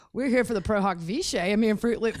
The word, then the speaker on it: pro hac vice: got the Latin pronunciation I got the guy and he says prohawk vich but he's Italian so